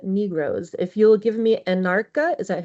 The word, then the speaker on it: Anarcha: If you'll give me Anarcha, is that how you say it?